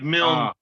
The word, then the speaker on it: Milne: Please welcome Andy Milne. Thank you. It's I'd hate to be a dick. It's like it rhymes the Milne. It's like Milne.